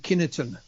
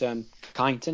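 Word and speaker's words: Kineton: And we're talking about MOD Kinnerton. Yes. So it's pronounced Kyneton, MOD Kyneton.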